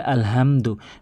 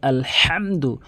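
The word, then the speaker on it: الْحَمْدُ: এখানে সঠিকভাবে উচ্চারণ করতে চাইলে হাটি হলকের মাঝখান থেকে উচ্চারণ করতে হবে, তাহলে সঠিক অর্থ দাঁড়াবে। যেমন অধিকাংশ লোকে বলে আলহামদু, বলতে হবে আলহামদু, আলহামদু, হাটি হলকের মাঝখান থেকে আলহামদু, এভাবে উচ্চারণ করবেন।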